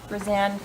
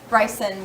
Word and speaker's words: Bryson: of applicability at 26 bran ban way is that how you say it or is it bran we say brys Bryson way okay thank you I'm